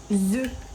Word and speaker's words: œufs: Rappelez-vous, on dit un œuf quand on en a un, mais deux œufs. Un œuf, des œufs. OK, quand tu en as deux, la prononciation c'est des œufs.